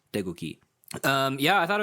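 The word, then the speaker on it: 태극기: cave that's written but it's basically all soft g sounds degooky um yeah i thought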